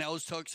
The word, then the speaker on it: Okotoks: Okotoks is the closest town, right? Is that how you say it? Yeah, Okotoks is the closest town there to the Calgary Polo Club.